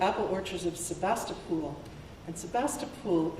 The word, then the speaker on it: Sebastopol: orchards of Sebastopol and Sebastopol is said differently from how it is spelled probably already done this it only has one o at the end before the L but everybody who lives there says pool instead of pole and I have no